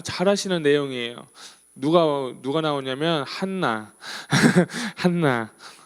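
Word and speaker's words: Hannah: 내용이에요 누가 누가 나오냐면 한나 한나 예 한나 하면 제가 생각나는 사람 있습니다 누군지 아세요 제 딸이에요 제 딸 이름이 해나 든요이 영어 발음으로 한나가 영어 발음을 해나요 그래 가지고 제가 원래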